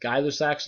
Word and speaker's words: Gay-Lussac: Our last one's pronounced, it looks like Gay-Lussac's law. It's pronounced Gay-Lussac's law. I'm going to pause here